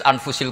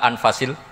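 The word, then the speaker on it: أنفس: sayaja di sini ditulis anfusil kutub kalau saya baca anfasil kutub karena maknanya kitab ter baik Kalau kitab terbaik bacanya bukan anfus tapi apa anfas ya nanti kamu debat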